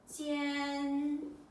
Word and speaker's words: 间: This one is ji, yan, jian. First tone.